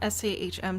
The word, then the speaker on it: SAHM: Sam, S-A-H-M, stands for stay at home mom. Some people pronounce it Sahm. I don't like it.